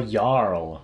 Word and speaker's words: Jarl: Gerald. Oh, Jarl. Right, gotcha. I love how that gets pronounced as Gerald.